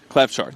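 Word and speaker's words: Klavžar: Klavchar. That's how you pronounce that.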